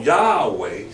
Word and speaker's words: Yahweh: he changed it from the form Yahweh see into the form Jehovah the form Jehovah ladies and gentlemen is wrong see it must be only two syllables see yeah wait is